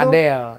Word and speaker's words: padel: Padel. Ini Apa tuh sih? dari mana Ki ininya? Datangnya. Ini tuh sebenarnya tuh Tanya dong Kak ya, Ini nih. tulisannya kan PADL. Itu dibacanya pedal atau padel? Padel.